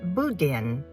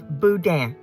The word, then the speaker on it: boudin: Contrary to how most people who are visiting Louisiana pronounce it, it is not boudin. It is boudin, b o u d i n.